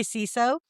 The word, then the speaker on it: CISO: You know why I say siso? Cause I'm see ya. It rhymes with Well there you go.